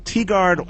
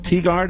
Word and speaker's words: Tigard: On Thursday night, the police in Tigard, Oregon. Is it Tigard?